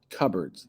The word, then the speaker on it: cupboards: Cupboards. That's what we say, but I don't know if you've ever seen that word. It actually looks like cupboards, but we pronounce it cupboards.